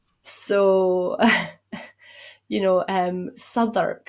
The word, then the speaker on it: Southwark: So, you know, um, Sodur, for example, in London is spelled Southwark. Okay. But it's Sur.